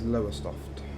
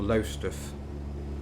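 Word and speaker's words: Lowestoft: easterly point which is lower soft or low stuff as we say in norfolk as we get up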